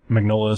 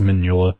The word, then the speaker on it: Mignola: of Topps Comics Dracula Magnola style look. Like a lot of the way the characters are drawn. Because, or I guess it's actually pronounced Mignola.